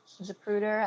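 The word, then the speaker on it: Zapruder: you look at the zupruder film japruder i believe i'm pronouncing that correctly you are there are police to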